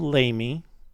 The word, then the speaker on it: Lamy: the people pronounce it lamey but it's named after an archbishop in santa fe but it's french so it's actually pronounced la me so we stopped in lamy and i was led